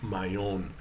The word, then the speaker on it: Mahon: or the Sea of Mahon, M-A-H-O-N. And that turned into mayonnaise, that is coming from Mayon or Mahon, as the French don't pronounce the H.